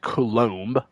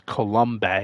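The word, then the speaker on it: Coulombe: Yeah, I think it's pronounced Colom. I thought it was Colomb or you know pretty sure it's pronounced Colom.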